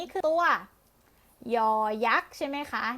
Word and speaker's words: ย: เสียง ยอ ยักษ์ เอ่อ ออก เสียง ว่า ยอ อายอ อายอ ต่อ ไป นะ คะ